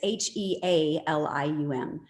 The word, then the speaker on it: Healium: Yeah, so helium is spelled like healing, but it's Healium.